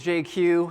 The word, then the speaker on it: Jay Kiew: Uh I'm probably the only person you'll ever meet who can pronounce his full name uh in just two letters. Uh J Q. Uh kind of like if uh if Jay-Z and GQ had a baby and it was Asian, that would be me.